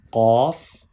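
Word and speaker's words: قاف: Please read with thick sound, heavy sound.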